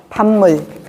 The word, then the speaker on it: 밥물: 같은 조음 위치에서 비음이 아닌 애가 비음 앞에서 비음으로 변하는 거예요. 밥물이 밥물. 믿는다가 믿는다. 한국말이 한국말. 이렇게 같은 조음 위치에서 비음 앞에서는 비음으로 변하는 겁니다.